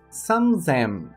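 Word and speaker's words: 三千: om já os números 3000 e 8000 tem uma alteração na leitura para número 3000 Sam Zem Sam Zem com a leitura C aplicando T alterando sua pronúncia para Z e para o número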